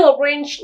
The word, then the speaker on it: arranged: Đó, cách đọc là arrange. Đấy, tại sao lại cái chữ D này nó thêm ed thôi? Cùng nhau đọc lại với cô nhé. Nào, 1, 2, 3. Arranged. Đấy, arranged.